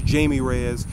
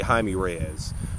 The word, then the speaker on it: Jaime Reyes: In fact, because of her, I learned that that's how you pronounce his name. I thought it was Jamie Reyes. It's actually Jaime Reyes.